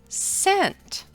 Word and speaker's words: scent: the SC consonant team the C is silent as in the words science and scent turn in your reading and phonics book to page 14.